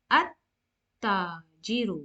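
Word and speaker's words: التاجر: At-tajiru. Why? Because the lam is not pronounced. It will be skipped, and directly we will go from alif to ta.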